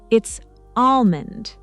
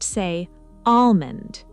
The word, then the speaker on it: almond: The L is silent. It's almond. Almond. Perfect. So the L completely disappears. Exactly. Don't pronounce it. Just say almond.